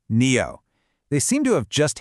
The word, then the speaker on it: NIO: And by the way, it's pronounced NEO.